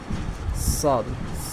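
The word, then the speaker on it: صاد: উচ্চারণটা একটু মোটা, বুঝছো, শিন শিন শিন। তারপরে হলো সদ সদ সদ, সরব শব্দ সদ শব্দটি আসলে মোটা একটা উচ্চারণ, ঠিক আছে।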